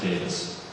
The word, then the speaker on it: Davies: Adam Davis excuse me it looks like Davies but it's pronounced Davis has an e in there Adam is sort of